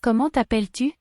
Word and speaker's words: Comment t'appelles-tu: The T at the end of comment is silent. The double L in appel makes the E before the L's say e, and the S at the end of appel is silent. And the U in tu makes a short oo sound.